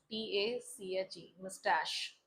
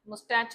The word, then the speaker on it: moustache: मुस्टैश की spelling MOUSTACHE, मुस्टैश। ठीक है, मुस्टैच नहीं कहना है, मुस्टैश, this is the pronunciation.